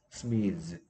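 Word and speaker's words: smiths: 스미스 발음은 스도 소리 안 뭐야 스도 목이 안 떨리는 소리고 스도 목이 안 떨리는 소리이기 때문에 목 떨리는 소리에 스즈로 바꿉니다. 스미즈.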